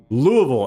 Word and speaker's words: Louisville: kentucky a strange scene here south of louisville louisville as it's actually actually pronounced uh roads blocked by military vehicles barriers